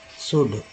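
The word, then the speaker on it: should: शुड OULD code बोलते हैं ना, तो इसमें L को ला बोलते हैं, SH को श बोलते हैं, L को ला नहीं आप बोलेंगे क्योंकि L जो है साइलेंट है, एक साइलेंट लेटर है।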